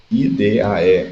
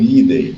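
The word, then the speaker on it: -idae: É percebido uma condição aqui no táxon família, que é o final da palavra, IDAE, ou IDEI, ou IDIA, como queiram pronunciar, e esse sufixo ele é comum a todas as famílias de animais que existem.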